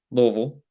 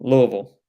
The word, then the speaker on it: Louisville: to what is jefferson county uh which is louisville if you if you don't know what what do you say where look louisville louisville how do you spell that l-o-u-i-s-v-i-l-l-e yes